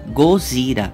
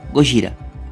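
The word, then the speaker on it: ゴジラ: Assim, os japoneses tendem a pronunciar Godzilla como Gozira, que dito rapidamente por eles fica Gojira.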